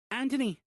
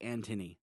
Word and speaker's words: Anthony: Anthony, Lisa said. She didn't pronounce the H, so it sounded like Antony.